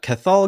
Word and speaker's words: Cathal: It's silent T in there, but it's one of those Irish names.